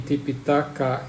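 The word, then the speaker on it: tipiṭaka: related language uh the the name tipitaka is pronounced like tripitaka so it's very closed very very similar and P is the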